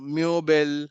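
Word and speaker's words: Möbel: Similarly अगर सिर्फ ओ है और उसमें umlaut नहीं है तो सिर्फ ओ का प्रोनाउंसिएशन निकलेगा, लेकिन अगर umlaut आ गया तो यू का प्रोनाउंसिएशन निकलेगा. ठीक है, म्योनशेन और सॉरी म्योबेल, हम लोगों ने एक वर्ड देखा था जिसका मतलब फर्नीचर होता था, राइट. सो म्योबेल, म्योबेल, राइट, ईओ की आवाज निकलती है.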